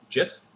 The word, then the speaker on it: GIF: an animated gif um jiff however people pronounce that it is gif even though the creator of it says it's diff they're wrong um so